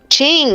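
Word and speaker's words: Qing: king wait well yeah king is it king ching oh my god i didn't know that's how you pronounce it oh my gosh i've been pronouncing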